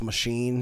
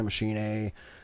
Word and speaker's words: Machinae: It's spelled like it looks like Machinae. Some people have said it's just machine. You just pronounce it as machine. Some people say Machinae.